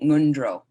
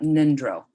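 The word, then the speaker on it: ngondro: pronounced how it's spelled the n-g is in the back your throat mundro mundro it's not nindro it's not in the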